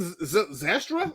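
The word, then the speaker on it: Zylstra: behind brock right in shane zestra that's how you pronounce his damn name and then behind him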